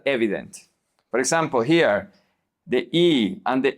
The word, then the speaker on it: he: Remember that the H is silent. So we don't say he, we say e.